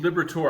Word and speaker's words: Liberatore: a passion for all things graphic design suszie Liberator I got the last name right yes did I pronounce it correctly awesome so great to have